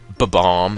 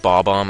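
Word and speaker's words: Bob-omb: Like in Super Mario 64, when people call it B-bomb and not Bob-bomb, I just cringe.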